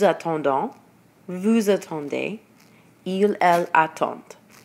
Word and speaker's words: attendent: vous attendez, il, elle attendent. So you'll notice with je, tu, il, and elle, you don't pronounce the D, but with nous, vous, and il, and elle plural, you do pronounce the